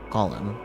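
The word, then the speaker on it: GOM: is of course G golum much to his surprise this ends up being pronounced like golum anyway on a side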